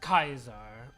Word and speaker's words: Caesar: another thing is that caesar and fallout use classical latin not ecclesiastical latin so he spoke with hard c's cup right and soft